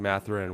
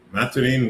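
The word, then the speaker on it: Mathurin: They went with the French pronunciation.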